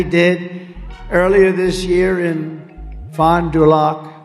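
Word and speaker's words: Fond du Lac: earlier this year in Fond dulock Wisconsin fonderlac nice I love these names I wish I could give me a little easier name she just uh they told me that's the way you pronounce it so I hope I got it right but an illegal alien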